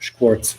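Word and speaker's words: Škvorc: name is and my last name is pronounced Schwartz at ship most warts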